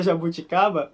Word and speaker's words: jabuticaba: Essa pronúncia dessa palavra é mais difícil pra mim, hein? Achou mais difícil? Jabuticaba. O B não é exatamente um claro B. Isso, na verdade... E o J também não tem som de J.